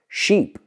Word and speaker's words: sheep: So people say, for example, if you look at two words, sheep and ship, es una sílaba. Pero ¿qué pasa? Mucha gente, el sonido vocal no lo tiene. So, lo que he notado, las palabras cortas son las que cuestan más.